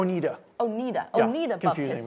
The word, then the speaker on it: Oneida: United States at the Oneida Baptist Institute. Did I pronounce correctly? It's actually Oneida.